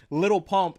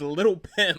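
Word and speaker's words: Lil Pump: When Trump brought out Little Pump and then mispronounced his name as Little Pimp.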